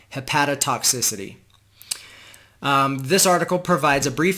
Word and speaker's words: hepatotoxicity: called Mechanisms of Inflammatory Liver Injury and Drug-Induced Hepatotoxicity. I've been saying it wrong. Hepatotoxicity.